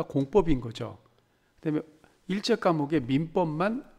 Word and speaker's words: 공법: 먼저 용어 설명을 보면 우리가 공법 하잖아요. 된소리로 법이라고 읽죠. 공법.